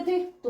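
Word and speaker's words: trente: अलग बोलते हैं टी को मैंने बताया था थत बोलते हैं टी आर ई एन टी ई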